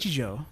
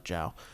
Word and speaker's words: Nichijou: how do you pronounce it? Nichijou. Nichijou. I have Nichijou to read. I thought it was Jiao.